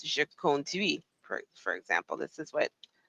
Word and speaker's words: conduis: Je conduis. And she had a hard time saying je conduis. And I understand there's like T's and the silent letters.